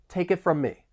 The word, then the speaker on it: take it from me: We can link the final consonant sound in take with the beginning vowel sound in it. Take it. We also have overlapping m sounds from me. It almost sounds like one word from me. Take it from me.